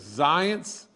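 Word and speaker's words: Zients: is jeff and and i think you you pronounce his last name as zions and everything he seemed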